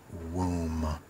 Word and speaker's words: womb: and that would be womb w o m remember the B is silent okay and that's very